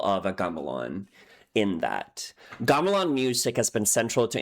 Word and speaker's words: gamelan: Okay, so the first point of education for me is how to pronounce it because I believe it's actually a Galan, not a game.